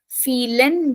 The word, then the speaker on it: vielen: The first one is vielen Dank. So again, starting from V, pronunciation F.